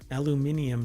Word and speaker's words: aluminium: where is it from aluminium packaging I don't know where this company is oh it is England okay yeah okay so that's the European pronunciation of aluminum let's keep going the